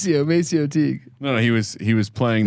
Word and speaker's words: Maceo: I mean, if you look at the numbers, it's It's Macchio. It's Maceo Teague. no, he was playing the pronunciation.